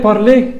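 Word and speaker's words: parler: اول حاجه ان الاي ار لو انت فاكر من اول محاضره كانت بتتنطق ايه، فما تقولش بارلير بارلير، لا، بارلي بارلي بارلي، يتحدث.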